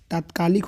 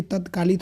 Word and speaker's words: तात्कालिक: तत्कालिक नहीं होता है, तात्कालिक होता है।